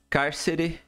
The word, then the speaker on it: cárcere: Cárcere. E aí? Cárcere. Aonde que tá a sílaba forte?